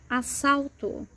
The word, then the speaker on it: assalto: When you have double S in a word, obviously double S never starts a word. It's always in the middle of a word, as in assalto, assalto, robbery, assalto. Double S sounds like S.